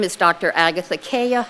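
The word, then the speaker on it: Cayia: afternoon thank you my name is Dr Agatha Kaya it's spelled c-a-y-i-a and I'm here to discuss uh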